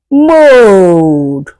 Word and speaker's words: mode: Mode. As you can see, you can hear the sound of O, whereas E goes silent.